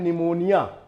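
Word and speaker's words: pneumonia: जैसे एक वर्ड आता है निमोनिया। अब निमोनिया की स्पेलिंग क्या होती है? निमोनिया की स्पेलिंग होती है NEU, MONIA, निमोनिया। लेकिन वहां पी साइलेंट होता है, यानी पी लिखा तो जाता है लेकिन पढ़ा नहीं जाता।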